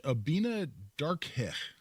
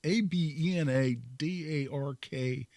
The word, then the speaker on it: Abena Darkeh: And the judge, a lady named Judge Abina Darkeh, probably mispronouncing that. It's Abena Darkeh.